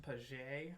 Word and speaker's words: Page: I've been saying it wrong all of these weeks. It's pronounced Page, apparently. It's a silent G.